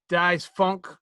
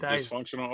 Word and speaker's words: Dysfunkshunal: 38 was DJ Dice Funk. Hold on, let me say his name right. Hold on, because it's not fully reading it on here. DJ Dice Functional. DYSFUNKSHUNAL. Oh, dysfunctional.